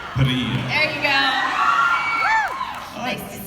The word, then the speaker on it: Parrilla: Can you roll your R's? Parrilla.